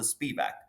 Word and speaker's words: Spivak: Some people pronounce it Spivak, and that kind of stuck with me sometimes.